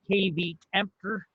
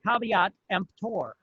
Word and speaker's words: caveat emptor: i know it looks like it should be pronounced kb emperor but it's actually pronounced caveat emptor it's latin and it means let the buyer